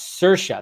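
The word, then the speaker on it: Saoirse: could definitely do that is Irish yeah like my name so pronounce cersa that's right because there's that the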